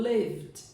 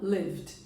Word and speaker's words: lived: Então, é como se esse E aqui, ele não existisse. Na hora da pronúncia, eu não vou pronunciar. Então, lembrando, lived.